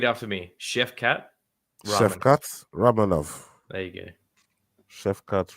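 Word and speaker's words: Shavkat Rakhmonov: one all repeat after me Chef cat ra Chef cat ranov there you go Chef cat ranov that's how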